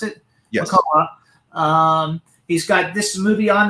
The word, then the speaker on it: McCullough: McCullough, is that how you pronounce it? Yes. McCullough.